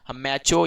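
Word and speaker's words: macho: लिए यूज होता है, उसी को हम मैचो या माचो, मैचो कहते हैं यूके और माचो कहते हैं यूएस के प्रोनाउंसिएशन के हिसाब से।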